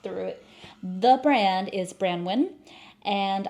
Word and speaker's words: Branwyn: it the brand is brandwin and I've heard it being pronounced a few different ways but I'm going to say brand wi cuz that's the one I hear the most and this is a